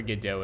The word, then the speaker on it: Godot: guess you could like the way that you're supposed to do it is like waiting waiting for a dough so however however waiting for godot is pronounced godo so but i i think people have come around to the saying it go dots because i think the the lead developer of the engine also calls it godot so it's basically